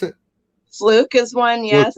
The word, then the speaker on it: Fluke: How do you pronounce it? Fluke is one, yes.